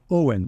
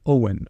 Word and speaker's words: Eoin: How do I say your name? Owen. Owen. Like Owen in English, yeah. Owen, okay. Yeah. So why do you spell it differently? Gaelic. Gaelic, okay.